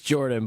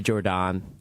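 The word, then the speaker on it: Jordon: It's Jordan, but you can say Jordan. Because that's how it's spelled. Yeah, There's two O's.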